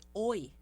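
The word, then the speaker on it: ㅚ: Aqui nós temos a vogal, a escrita sendo OI. Ok? Porém, a pronúncia vai ser OE.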